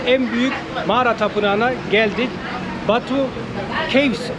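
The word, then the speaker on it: Batu Caves: büyük mağara tapınağına geldik Batu keyif olarak İngilizce Tabii Türkçe olarak yazılıyor okunur Ama Kehf olarak söyleniyor İngilizce burada hinduların burada Hac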